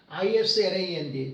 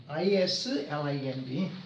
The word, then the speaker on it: island: 나라 얼음의 땅 여기는 Island 제주도 할 때 나오잖아요 제주도 안 해놨는데 아일랜드 아일랜드 아이랜드 s가 발음이 안 됩니다 I wind I lais rand Island 참고로 알아두시면 좋겠습니다 세계의